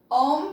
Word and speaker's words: om: we'll chant om together ohm comes in three syllables try to make the three syllables the same length exhale completely inhale all